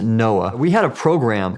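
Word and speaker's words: NOAA: I was with the National Oceanic and Atmospheric Administration we pronounce it Noah we had a program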